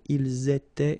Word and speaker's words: ils étaient: All right, so you can hear that here, for instance, I make here a liaison, ils étaient, and then here I make a liaison as well.